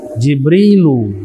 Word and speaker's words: Jibril: Adapun ridwan tidak dibaca tanwin walaupun dari bahasa Arab. Kenapa? Karena dalam ilmu nahud terkena penyakit. Yang pertama ada tambahan alif dan nun. Dan ini adalah nama. dibacanya ridwanu. selebihnya itu bahasa asing. Jibril bukan bahasa Arab. Mikail, Jibrilu, Mikailu. Dibacanya begitu.